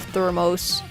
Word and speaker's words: thermos: them with my food we pronounce the s at the end of thermos okay again we say